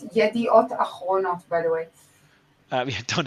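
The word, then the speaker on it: Yedioth Ahronoth: It's Yediot Achronot, by the way.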